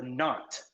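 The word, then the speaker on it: knot: what is that called it's called a not okay kn which letter is silent is the k silent or is the n silent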